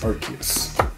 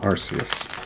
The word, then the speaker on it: Arceus: an Arceus okay I'm pronouncing it right right it's Arceus thank you Arceus yep it is not Arceus here we go